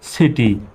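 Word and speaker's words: city: সির পরে এবার দেখুন আই আসছে, এখানে কি আই আছে তিনটা লেটারের মধ্যে? হ্যাঁ আছে, এই আই আছে। সি এর পরে আই আসলে কিসের মতো উচ্চারণ হবে? সির উচ্চারণ স্বর মতো। সুতরাং CIC, TYT, সিটি।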